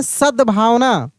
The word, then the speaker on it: सद्भावना: सद्भावना सद्भावना देखिए सद्भावना सद यानी द का उच्चारण तेजी से कर रहे हैं। यानी आधा द है। देखिए सद सद भा व न ऐसे सद्भावना जिस अक्षर का उच्चारण तेजी से होता है वह आधा होता है।